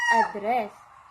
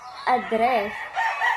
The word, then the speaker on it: address: a noun is that the stress is in the beginning if the word was used is a verb the stress must be at the end let us take this